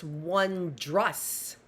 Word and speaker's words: wondrous: Menards the brief wondrous I thought it was wus r w n d r o u s but it's not it's wandas Wess the brief wondrous life